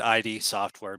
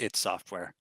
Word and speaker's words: id Software: Usually we could start by saying how all of us probably first said ID software be before we learned it was pronounced its software.